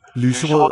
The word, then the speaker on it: lyserød: lyserød og mørkerød, Lyserød og mørkerød. Note how weakly these D's are articulated.